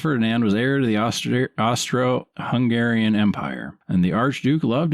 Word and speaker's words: Austro-Hungarian: trip to inspect the is it Austro-Hungarian or Austrio? I don't know. It's Austro-Hungarian. Okay.